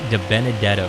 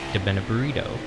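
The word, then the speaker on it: DiBenedetto: maddie d appreciate it matt de benedetto is how you say his name everybody calls him matt de been a burrito or maddie d because de benedetto is too hard to say apparently but uh oh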